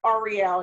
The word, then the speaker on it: Ariel: all right all right REO and it is pronounced Arielle in that area correct correct that's a area